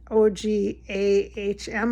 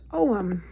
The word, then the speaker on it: Ogham: So yeah, so Oghams, I'm going to spell it for you. It's Ogham. Ogham, I believe.